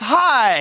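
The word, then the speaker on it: Hai: Well, the correct answer, it rhymes with die, it's high.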